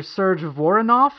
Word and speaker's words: Serge Voronoff: Serge Voronoff.